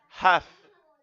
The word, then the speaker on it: half: Half. A pronúncia, você não pronuncia o L. Half.